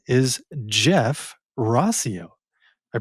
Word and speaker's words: Rauseo: His name is Jeff Rosio. I pronounced that right? Rosio.